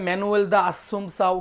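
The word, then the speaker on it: Manoel da Assumpção: সেই ব্যক্তির নাম হচ্ছে মানুয়েল দা আসুমসাউ। মানুয়েল দা আসুমসাউ। ওকে, দেখেন এই নামটা অনেকে অনেকভাবে উচ্চারণ করে, কোনো সমস্যা নেই, এটা পর্তুগিজ নাম তো একটু ঝামেলা হতেই পারে। কেউ বলে ম্যানুয়েল দা আসুমসাউ, কেউ মানুয়েল দা আসুমসাউ,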